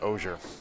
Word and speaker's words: Ogier: Spelled like auger, I say Ogier, and it's Ogier.